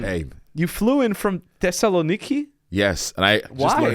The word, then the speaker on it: Thessaloniki: you flew in from Thessaloniki yes and I just Le how to uh pronunciate that word I was I was calling it Tess Tessa ninki and Colonus all week people were mad at